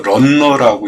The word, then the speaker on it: 러너: 벽 받침재는 러너 스터드, 이렇게 러너라고 쓰고 런너라고 읽습니다.